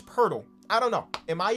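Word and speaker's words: Pöltl: someone's name on purpose but i'm so used to saying purdle that i don't even think about changing and i think it's pertl i don't know am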